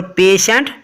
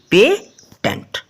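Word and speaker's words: patient: Okay, ratio ना कि रेटो, और पेशेंट ना कि पेटेंट।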